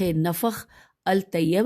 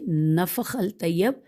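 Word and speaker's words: نفح الطیب: کرد علی۔ نیکسٹ ہے نفخ الطیب، از لمقری احمد بن محمد، ہم ہجے کریں گے نون فیخ نفخ الطیب، الف لام طیب نفخ الطیب، از لمقری لام میم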